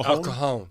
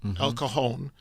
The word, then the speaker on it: El Cajon: El El Ca- El Cajon. El Cajon.